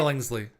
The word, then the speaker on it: Billingsley: Billingsley.